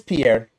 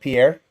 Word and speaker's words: Pierre: and well it says Pierre and anybody not from South Dakota would call it Pierre but we're from South Dakota so we call it Pier so you're not from